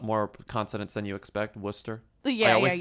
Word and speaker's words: Worcester: conidence than you expect Worcester I always say it wrong yeah but you would say like Worchester but it's not yeah I said Wester and then you laugh